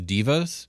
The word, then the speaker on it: Deva: talk about the astral Devas or the Devas or the correct pronunciation is divas yeah I was gonna